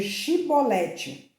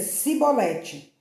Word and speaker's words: Shibolete: Se o homem negasse, eles o mandavam dizer Shibolete. Se ele era de Efraim, dizia Sibolete, pois o povo de Efraim não conseguia pronunciar essa palavra corretamente.